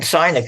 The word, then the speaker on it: Sinek: Simon Sinek. I've been reading him. Am I pronouncing his last name right?